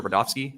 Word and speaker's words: Rudofsky: Special Agent Rudofsky, that's Rudofski, and it's pronounced Rudolph and then Ski.